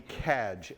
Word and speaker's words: Cadge: ivan yesterday mentioned wendy cadge at brandeis c-a-d-g-e spelled like badge pronounced like badge and sociologist and she